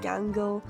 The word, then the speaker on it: Gangle: I get it could have been with Mangle because it rhymes with Gangal, but I had a much better idea for Mangle.